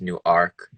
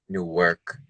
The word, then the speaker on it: Newark: Each of the different Newarks pronounce it differently. Like in Delaware, it's Newark. In Ohio, Newark, and then in Jersey, it's Newark. Yeah.